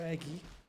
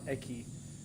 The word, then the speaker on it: eggy: of choice here for eggy someone said I should pronounce it as eggy not eki which is easier egy sounds like more of a word eki is like I don't know bomb